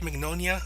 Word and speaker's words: Mignogna: For example, they've got Vic Mignonia. How do you pronounce that? Mignogna, thank you.